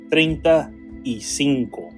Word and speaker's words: treinta y cinco: And it's pronounced treinta y cinco. Treinta y cinco.